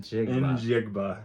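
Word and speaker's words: Njigba: Jackson Smith in Jigba. Sorry, that name just the the way the letters are set up, it just makes it sound like it should be something else, but apparently that's how you pronounce it.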